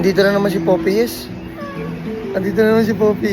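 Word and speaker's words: Popeyes: yan ganyan siya lagi paano ba ang right pronounce niyan talaga popy yes popy yes yan popy yes popy talaga yan kasi para kang naka poopy pag sinabi nilang papay Tanga yun e ba Oo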